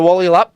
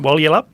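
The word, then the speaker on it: Walyalup: And that's the pronunciation, Wally up? Wally up. Yep, I've practiced it. Wally up. You've got to say it quick, just like Russian tennis players.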